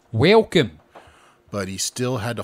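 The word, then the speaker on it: Welkom: was reading that and now I got it welcome in sentence that's spelled w-e-l-k-o-m welcome but he still had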